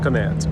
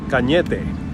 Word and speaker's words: Cañete: actual name is Señor Cañete. That is my actual last name, Cañete. And it is pronounced like that because it is a Spanish name from Spain.